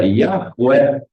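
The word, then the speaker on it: Yahweh: E como nós vemos as letras que escrevem esse nome que se pronuncia Yahué, ele também ele pode ser lido através de suas letras individuais, sendo iot, rei, vá, rei, né?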